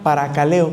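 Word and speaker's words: παρακαλέω: Ahí la palabra es para caleo con k. Para caleo, como para qué leo, para con k para caleo, acento en la e significa implorar, consolar, confortar.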